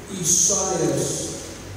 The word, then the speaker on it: Esaias: Was returning and sitting in his chariot, read, it's pronounced Esaias, it's Isaiah, pronounced differently in the New Testament, same book, Isaiah the prophet.